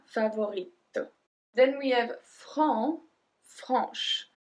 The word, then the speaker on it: franc: Then we have franc, franche. So franc, we don't pronounce the C.